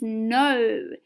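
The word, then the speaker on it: know: is this word and the correct answer is no and it's not spelt n-o it's spelt k-n-o with a silent k don't forget that all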